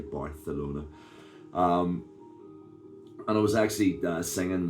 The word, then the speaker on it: Barcelona: Have to pronounce the C properly, Barcelona.